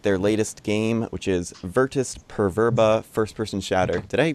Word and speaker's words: Virtus Per Verba: latest game, which is Vertis Per Verba first-person shooter. Did I pronounce that correctly? Yeah, that's about right. Unless we're going to go Latin on your ass and go, it's Virtus Per Verba, but whatever.